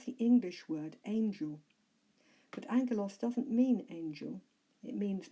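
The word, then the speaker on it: ἄγγελος: the first word is anger loss if you recall the double gamma in Greek is pronounced as an NG in English Angello's gives us the english word angel but angle loss doesn't mean angel it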